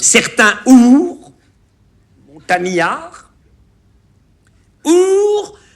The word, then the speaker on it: ours: y a une faute, on ne doit pas prononcer le S de ours. Certains ours, montagnards, ours à demi léché.